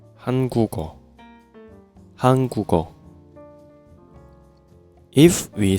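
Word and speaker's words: 한국어: So, when we pronounce we say Han gu geo. Hangugo.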